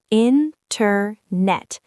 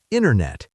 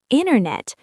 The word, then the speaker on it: Internet: In American English, if a T is in the middle of a word, it often disappears or changes. For example? The word Internet. How do you say it? Internet. I pronounce every letter because I am a good student. You are a good student, but a native speaker often says Internet. Internet. Where did the T go? It ran away.